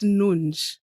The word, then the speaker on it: Nunes: there's nothing funny there it's pronounced nun nun n nun is in